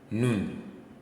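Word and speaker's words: נון: n n so this is n Sound no noon so you see this at the beginning or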